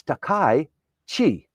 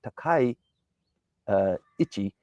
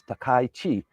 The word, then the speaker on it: Takaichi: So, many people say it's Takai and it's not Takichi, it's Takai Chi. Takai. So if you can pronounce that well when you're you're talking about